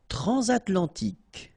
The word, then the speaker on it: transatlantique: Transatlantique. Okay, so at the end, tic. Remember, Q-U-E-K.